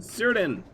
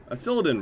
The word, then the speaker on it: Cyrdan: Acervelli and Cyrdan. Cyrdan, rather. Pronounced that wrong somehow.